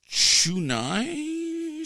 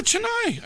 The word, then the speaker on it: Chennai: Texas Super Kings, though, the Chunai Super Kings. I'll look it up so I'm pronouncing it here in a second. Hold on here. Okay, so it is the dun dun dun. Mm-hmm. Yeah, Chennai.